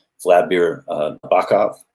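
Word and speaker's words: Nabokov: say flat beer uh bakav is another one or nabikov if you're if you're sting and pronouncing it for a song for the police uh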